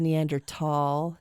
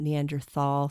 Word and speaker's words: Neanderthal: I also said Neander tall, not Neanderthal.